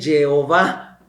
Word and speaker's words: Jehová: En hebreo no se escriben las vocales, solo las consonantes. Entonces, por ejemplo, Yahvé se escribe YWHW. Y la Iglesia Católica siempre le puso las consonantes, Yahvé. Y llegó Lutero y dijo, no, ahí dice Jehová, pero son las mismas consonantes, nada más cambian las vocales.